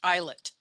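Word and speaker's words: islet: Langer langerhan that word I SLE T is pronounced eyet like e ye l e t that's how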